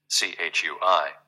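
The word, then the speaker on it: 吹: CHUI, pronounced like chui, with a forceful exhale, which is also associated with the kidneys.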